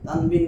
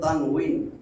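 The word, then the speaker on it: تنوين: তানবিন বলে। তানবিন। এটা আমরা তো ক্লাসে নিব, বুঝছেন না, তখন ডিটেইলস বলবো। আসলে উচ্চারণ তানউইন। তানউইন। এই আমি আরবিতে লিখলে বুঝবেন। এই ওরে আল্লাহ রে, ওয়াও জবর ওয়া যদি হয়, ওয়াও জবর আমরা কি বলি? ওয়া। তাহলে ওয়াও জের উই, উই। ইংলিশে আমরা বলি আমরা, উই, এই উই। তাহলে তানউইনুন, তানউইনুন, উই, উই, উই, তানউইন, তানউইন।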